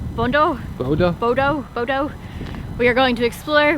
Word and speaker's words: Bodø: Bodø.